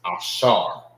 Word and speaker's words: Ashar: And how you say Asher in the Hebrew is Ashar.